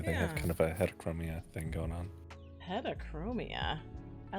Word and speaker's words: heterochromia: They have kind of a heterochromia thing going on.